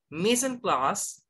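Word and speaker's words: mise en place: plaster french third means set in place again missing class not missing place no you pronounce missing class very good missing class is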